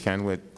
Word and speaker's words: Kenwood: Kenwood, am I pronouncing that correct?